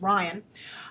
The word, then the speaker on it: Rian: So anyway, Rian Johnson, some people told me it's pronounced Ryan.